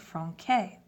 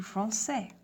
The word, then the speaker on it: français: So français, if we write français, F-R-A-N-C-A-I-S, sans accent, without any accents, you would pronounce it franquais. Just by adding the accent, you change it from franquais to français, comme ça.